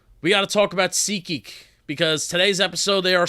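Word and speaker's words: SeatGeek: kind of cool kind of awesome thanks to Sea geek for being them and doing what they do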